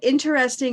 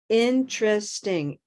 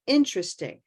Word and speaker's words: interesting: way if you say interesting it's okay it's totally understandable but a more conventional North American and even British pronunciation is three syllables interesting interesting interesting so the intra sting